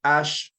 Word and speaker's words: H: Ash all right so Ash for H okay the way you pronounce it is the same as the as the ash in English all right same thing